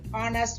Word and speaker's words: honest: நெக்ஸ்ட் an honest mother. மதருக்கு முன்னால honest H வந்து silent, honest என்ற வேர்ட் வந்திருக்கு. O என்ற pronunciation.